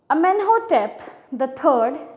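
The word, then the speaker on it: Amenhotep III: अमेनहोटेप द थर्ड, Tut's father और grandfather. अच्छा, ये लिखा है अमेनहोटेप 3 लिखा है, इसको ऐसे प्रोनाउंस नहीं करते हैं, इसको कहते हैं अमेनहोटेप द थर्ड, द fourth, द second,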